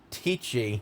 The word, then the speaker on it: tai chi: Spelling, it's pronounced ti with a long i.